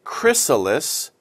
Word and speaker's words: chrysalis: spelled like this c-h-r-i-s that's chris it's like christmas christmas christmas okay chris